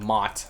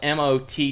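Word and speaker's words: motte: all the way around the uh the the mot I think this is called a Mot the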